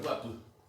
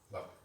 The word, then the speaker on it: guapu: peculiaridad al idioma, porque donde esté se pronuncia U siempre, al principio, en el medio y al final es U. Y cultural. Guapu.